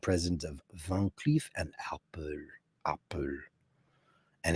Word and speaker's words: Arpels: But Van Cleef and Arpels, how did I not know that? It's not Arpel.